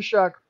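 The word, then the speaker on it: Shough: shall or show but you pronounce it shuck like you're shucking corn all right anyways i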